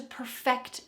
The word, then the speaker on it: perfect: Essential advanced phrase number eight is to "perfect something". Perfect. Something. Notice this pronunciation. Perfect. The final part of this phrase is what we're going to emphasize. Per-FECT .